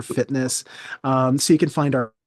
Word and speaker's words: FTNSS: It's spelled FTNSS, kind of like Grinder is GRINDR. It's FTNSS for fitness.